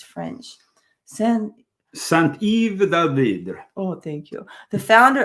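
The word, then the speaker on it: Saint-Yves d'Alveydre: Saint-Yves d'Alvidre.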